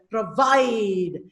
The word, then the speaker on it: provide: For example, provide, unite. Provide, pro is unstressed, vide is stressed.